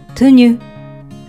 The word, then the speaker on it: tenue: ス語は T-U-N-U-U と書いて Tenue と発音します。